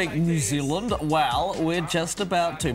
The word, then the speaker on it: Zealand: So because I really can't do a New Zealand accent, I'm rubbish at it. So you teach me. Zealand. So, Zealand. Zealand. New, yeah. New Zealand. All one syllable.